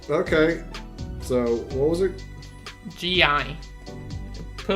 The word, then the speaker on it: gi: I just mispronounced it and I kind of... So how do you say it then? Gi. Gi? Yeah. Yeah. Silly me.